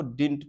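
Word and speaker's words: didn't: देखिए डिड नॉट को लिखा जाता है शॉर्ट में डिडंट, इसको डिंट पढ़ने का, ओके, प्रोनाउंसिएट कैसे करने का, डिंट।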